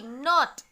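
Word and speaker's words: knot: K-N-O-T, not. The pronunciation is not. Now, if I hide the letter K, then also the pronunciation will be N-O-T, not. Then, K is a silent letter in this word.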